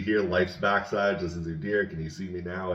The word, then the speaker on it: Udyr: He sent me the what it's pronounced as. I'm still going to probably butcher it, but it's Udir, and it means beast or monster.